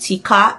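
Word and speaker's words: TK: in Germany I used Tika. I'm going to put it on the screen. It's just T and K but it's pronounced Tika.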